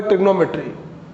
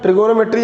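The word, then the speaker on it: trigonometry: Marks देगा, वो है ट्रिग्नोमेट्री। ट्रिग्नोमेट्री की बात करते हैं बेटा, ट्रिगोनोमेट्री या ट्रिग्नोमेट्री दोनों बोल सकते हैं बेटा, बस थोड़ा बहुत स्पेलिंग में चेंजेस है, एक ब्रिटिश में है, एक अमेरिकन स्पेलिंग है।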